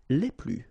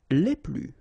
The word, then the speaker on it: les plus: and the plural form, les plus. Okay, so keep in mind that I don't pronounce this final S here, so we get le plus, la plus, les plus.